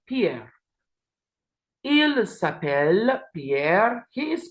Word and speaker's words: s'appelle: And here, the last one here is elle s'appelle with a silent ENT that we do not pronounce. Elle s'appelle Sophie et Emma.